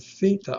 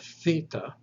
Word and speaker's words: theta: Theta is almost like the delta, except that it is voiceless. You do not engage the vocal cords. So theta is like the TH without the vocal cords.